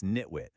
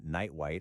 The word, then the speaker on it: nitwit: It's nitwit, not nightwite or something weird.